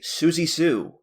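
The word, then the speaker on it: Siouxsie Sioux: this is a Gothic Queen Susan balion AKA Suzy Sue and that's spelled s i o uux s i e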